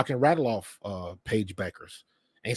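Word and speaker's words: Bueckers: you know I can rattle off uh Paige Beckers and say Paige Beckers and say her name correctly not when you look at how she spells it it's buers but it's pronounced Beckers and then Juju Juju Watkins and then you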